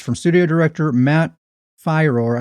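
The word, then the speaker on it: Firor: from Studio director Matt fyro I think it's pronounced fyro even though I always want to say Fior fire uh this is published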